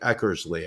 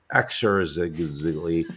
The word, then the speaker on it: Eckersley: Sox great Dennis Eckersley I like to pronounce it Eckersley I know you earlier said exercise and then had to start over again yes um but you